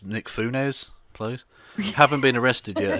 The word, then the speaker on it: Nick Fuentes: The fact that Baked Alaska and you've mispronounced. It's Nick Funes, please.